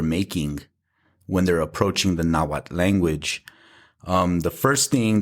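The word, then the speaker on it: Nahuatl: right off is the the mispronunciation of the TL right so you'll hear naad Ketel koad um you know they make it rhyme with bottle like Axel lottle um and it what it does is it creates two sounds instead of one right that the TL should be one sound so do you want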